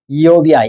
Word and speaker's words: 욥: 욥. 여러 번 얘기했는데. 원래 욥도 원어 그대로 발음하면 이욥이야, 이욥.